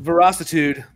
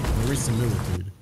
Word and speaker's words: verisimilitude: Veracitude. Veracitude. Yeah. Verisimilitude. Verissa what? Verisimilitude? Verisimilitude. Verisimilitude. Yeah. Can you spell that?